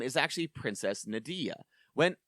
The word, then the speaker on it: Nadia: I I got to say, okay, can you please pronounce uh Marl's actual birth name one more time for me, please? Uh Marley. No, Nadia.